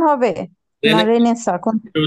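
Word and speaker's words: Renaissance: রেনেসা স্যার এটা কি রেনেসেন্স উচ্চারণ হবে রেনেসা কোন এটার উচ্চারণ হচ্ছে রেনেসা রেনেসা ফ্রেঞ্চ শব্দ এগুলোতে প্রচুর অতিরিক্ত আসলে অ্যালফাবেট থাকে উচ্চারণ রে নেসা সেটা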